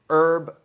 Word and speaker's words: herb: Before I was corrected on the silent H in herb, I'd known the East Coast slang word herb, a playground taunt, a spoken H herb as in you herb